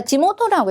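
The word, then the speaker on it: 地元: 자, 지모토라고 읽으셔야 되겠죠.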